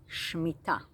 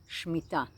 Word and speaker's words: Shmita: It's called Shmita. Shmita. It is spelled S-H and then M-I-T-A, some spell it S-H-M-E-E-T-A, and it literally means to loosen the grip.